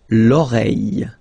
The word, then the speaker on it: l'oreille: Remember, when you get this I-L-L and then a vowel, it's I. L'oreille.